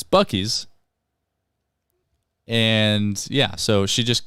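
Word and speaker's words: Buc-ee's: like we're finally here visiting boosies and it's bucky's and yeah so she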